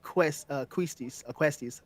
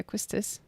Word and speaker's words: Quistis: I gave Ifrit to Zell, and Shiva went to Questis, how you say her name. Oh yeah, Quistis.